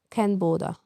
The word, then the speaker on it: Canberra: Its pronunciation is Canberra.